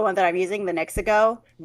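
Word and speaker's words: NexiGo: My favorite one is the one that I'm using, the Nexico. Nexico. Uh it gives me the sounds like Mexico but Mexico, right? So, like it's almost spelled the same way, too.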